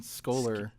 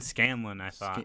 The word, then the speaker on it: Scanlon: and then this guy dan scholler is that how you pronounce it dan scanlon scandal yeah yeah either way